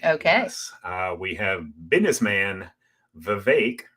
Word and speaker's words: Vivek: We have businessman Vivek, rhymes with cake, Ramaswamy.